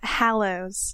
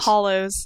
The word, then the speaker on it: Hallows: Yeah, Hallows. Hallows. Hallows. Hallows. Not hollows. Not hollow, Hollows. like a hollow in a tree.